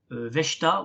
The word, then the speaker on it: Vechta: Et en ce qui concerne ma déception, c'est le Rasta Vechta ou Verta, je pense que ça se prononce Verta en allemand, qui est un club qui ne cesse de stagner.